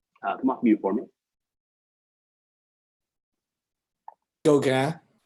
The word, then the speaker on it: Gauguin: Gauguin. Gauguin is correct. Good attempt on the French pronunciation.